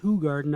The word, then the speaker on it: Hoegaarden: examples of this beer are Hoegaarden that is pronounced Hoegaarden at Hoegaarden brauch do bracel and vidiq erika